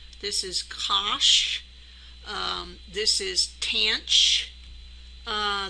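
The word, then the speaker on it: cosh: we call cinch uh the way we would pronounce this is cinch this is Kos um this is tan uh this is Coan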